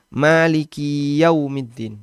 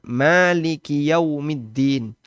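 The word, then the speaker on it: مَالِكِ يَوْمِ الدِّينِ: Maliki yaumiddin n ya seolah-olah ya-nya itu ada sukun ada tasdidnya Maliki yaumiddin seolah-olah dia ada tasdidnya maka ini berarti masuk dalam kategori lahan Khafi tetap bermakna sang raja untuk Hari pembalasan Meskipun cara baca dia keliru harusnya Maliki yaumiddin karena di situ tidak ada tasydid tapi kalau dia panjangkan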